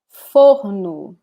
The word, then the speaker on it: forno: It can change according to the region in Brazil. Where I live, we speak this or like it was made here, almost like a breath, you know? So, for, you see? Forno, like this.